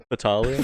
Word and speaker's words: Fatale: Fatale.